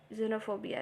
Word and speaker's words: xenophobia: जीनोफोबिया में x silent है, XENOPHOBIA, जीनोफोबिया ऐसे कहेंगे, विदेशियों से भय।